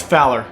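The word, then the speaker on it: FOWLR: what fowler means and is spelled like is f o this w r so we say it as fowler so it means fish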